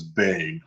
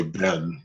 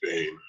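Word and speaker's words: בן: But the noun itself is Bain. A lot of people trip up on that because they're so used to hearing Ben that they'll say Ben, but it's really Bain.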